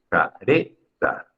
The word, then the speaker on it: careta: ¿Cuál es la que suena más fuerte? Careta. Es la segunda sílaba. Por ende, esta palabra es grave o llana.